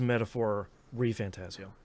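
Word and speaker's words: Metaphor: ReFantazio: The game did pronounce its title, so I can say it is Metaphor Fantazio, which I greatly appreciate.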